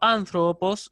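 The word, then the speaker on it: ἄνθρωπος: En este caso, anthropos es una proparoxítona con sílaba siguiente larga.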